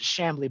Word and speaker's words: Chamblee: totally did so it's it's originally pronounced shambly but the way it's spelled a lot of people say chamblee so in the military